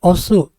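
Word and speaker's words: 押す: keenam ini cara bacanya Osu atau Dorong ya Jadi kalau misalnya kalian melihat pintu bentukannya seperti ini ini cara bacanya Osu yang artinya dorong Nah kalau kanjinya seperti ini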